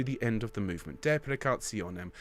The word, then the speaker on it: deprecationem: Deprecationem. If you can roll your R's, that would be lovely.